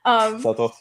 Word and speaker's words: Southwell: He again, if anybody hasn't seen that work, it looks like it's spelled Southwell, but they say it some different way because Southwell. Subtle. Southwell, yeah.